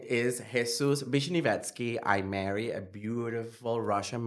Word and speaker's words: Vishnivetskiy: So, yeah, my name is Jesus Bishinetski.